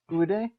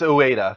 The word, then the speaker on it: Ueda: Uede? It's Ueda, Fumito Ueda.